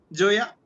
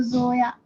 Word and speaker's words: Zoya: Joya. Sir, there is Joya. Mukta below the. Okay, okay. I'll pronounce as your name only. Joya, right? Oh, sir, it's from Z. So Zoya.